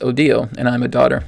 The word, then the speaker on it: Odile: odile just wrote uh my name is pronounced odile and i'm a daughter